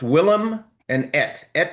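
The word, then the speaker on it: Willamette: I knew it sounded like just remember it had to rhyme with dam. I think that's I think that's pronounced incorrectly. Will. Anyway, it's Willm and et meaning little will.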